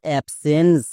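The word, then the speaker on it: absence: এবার দেখো ENCE, এটা হচ্ছে ওয়ার্ড প্যাটার্ন, তাহলে এর জন্য আমরা জানছি এন্স, অ্যাপস প্লাস এন্স, কি হলো অ্যাবসেন্স।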